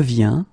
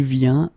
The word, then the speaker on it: viens: Okay, and phonetically, it's the same form. So you get je viens, okay, tu viens, il vient, elle vient.